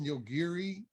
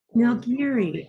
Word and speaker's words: Nilgiri: I think it's pronounced Nilgiri. Nilgiri. Okay. Nilgiri is really how you pronounce it, and it's a nice.